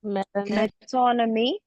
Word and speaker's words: metonymy: Metonymy. Very good. There's 20 miles. Metonymy. Metonymy. Okay, Yeah, metonymy. Metonymy. Yeah. Like economy, metonymy.